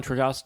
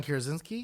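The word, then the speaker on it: Krasinski: know it has like you know your John trosi yeah did I say his name right and it had Emily Blunt so one question yeah John kazinski he's my favorite actor really so he is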